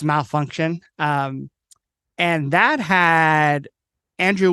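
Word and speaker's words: Malfunkshun: pun of it yeah it's spelled like funk but it's malfunction um and that had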